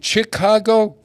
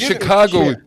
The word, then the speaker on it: Chicago: Should it be Chicago? What is the correct? What? No, I don't know. What? How does Chicago? Huh? It's soft C. Chicago. Chicago.